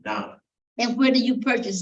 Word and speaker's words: naan: Naan. Naan.